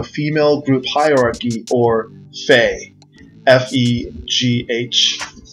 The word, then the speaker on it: Fegh: The following is a breakdown of the phenomena that I termed the female group hierarchy, or Fegh, F-E-G-H, pronounced Fegh like F-E-Y, in any case.